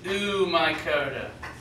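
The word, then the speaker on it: Oomycota: fungus like um phylum is oh oh mycota some people pronounce it ooh mycota these are your water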